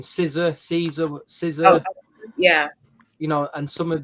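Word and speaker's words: SZA: How do you pronounce her name? Caesar.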